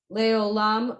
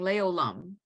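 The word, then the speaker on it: לעולם: olam, because Oh, Pronounci- it's just it is le olam, but it's weird to say le olam, so people are putting a sound in there.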